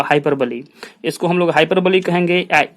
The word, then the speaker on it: hyperbole: कहते हैं हम लोग हाइपरबोली, HYPERBOLE। ये हाइपरबोल इसको नहीं पढ़ेंगे, इसको हाइपरबोली पढ़ेंगे। The correct pronunciation is हाइपरबोली।